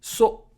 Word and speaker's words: そ: Always trying to make a quick buck そ it's pronounced, like ‘so’ in ‘soda’ See how this kana